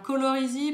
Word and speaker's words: Colorisi: Alors, Colorisy, pour ceux qui veulent l'orthographe, c'est C-O-L-O-R-I-S-I, donc comme ça se prononce.